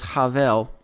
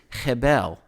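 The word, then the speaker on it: הֶבֶל: it should be pronounced hebel and we've talked about this before that some letters in hebrew can be pronounced multiple ways the b er the b sound is interchangeable with a v sound so there's there's some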